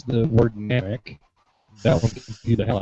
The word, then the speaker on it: Namek: They can't even pronounce the word Namek. That one confused the hell out of me. It's an A, not an E. But Namek.